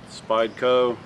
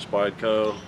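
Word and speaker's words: Spyderco: This is a nice uh Spideyco. That's how you pronounce it. Spideyco.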